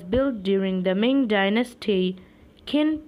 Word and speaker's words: Qin: Qin pronounced like Chin.